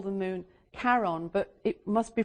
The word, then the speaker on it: Charon: What's interesting about this is how the moon got named, because Charon is actually Charon, who is the Greek mythological figure who takes the souls of the dead across the river.